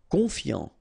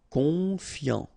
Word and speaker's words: confiant: Confiant, okay, final T not pronounced, so O-N, on, I-A-N, yan, confiant, confiant. Attentionné, okay, at the end